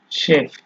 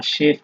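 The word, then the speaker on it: Chef: এই সেহা যখন হচ্ছে আপনার বাক্যের শুরুতে ব্যবহার হবে, তখন এটার উচ্চারণ তালিবর্ষ বা দন্তস্ব যেটাই বলেন, মানে স এর মতো হয়। যেমন এখানে আছে শেমি, শিনা, শেফ, ঠিক আছে।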